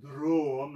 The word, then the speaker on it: Dråm: And you have to say it like that, Dråm, like you're vomiting like Swedish aquavit.